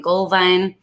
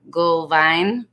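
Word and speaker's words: Glühwein: Gullwein is how you say it in German. Gullwein. W's are pronounced V's.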